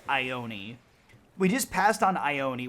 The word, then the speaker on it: Ione: Island we just passed iron on I'm being told it's it's pronounced Ione we just passed on